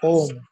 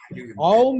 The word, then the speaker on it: Om: Sir, I have a question on the chanting of Om. Sir. Some institutions say that Aum is to be pronounced as A-U-M, Aum, whereas some say as Om.